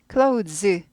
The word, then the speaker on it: clothes: clothes, 드가 있는데 the 발음이에요. clothes인데 드를 튀게 발음하지 않고 입 모양만 하고 튀지 않게 지나간다 그랬어요. 그래서 clothes 하지 않고 clothes 이렇게 됩니다.